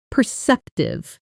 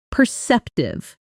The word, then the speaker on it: perceptive: Perceptive. Perceptive. The stress is on the second syllable.